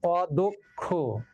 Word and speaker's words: অদক্ষ: অর্থাৎ মধ্য অ এর পরে যদি কি থাকে, কয় স অথবা জ ইয়, তাহলে সেই মধ্য অটা ও উচ্চারিত হবে। যেমন অদক্ষ, এই যে দেখো এখানে